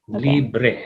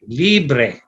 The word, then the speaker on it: libre: right so there are two syllables here right libre and so the accent there is in the first accent so how do you say that yes that's right libre right libre so when